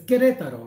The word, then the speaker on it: Querétaro: If you want a few days at Querétaro, I always have trouble pronouncing this. Querétaro. It's Querétaro, right?